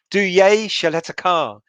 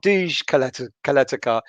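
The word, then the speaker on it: Duje Ćaleta-Car: Duye Shaletakar. Not Duj Kaletakar.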